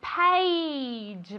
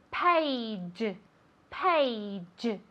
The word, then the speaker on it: page: Se escribe con una A, pero se pronuncia como si fuera E-I. ¿Vale? Page, page. ¿Vale? Ese sonido final es como una CH, pero más suave.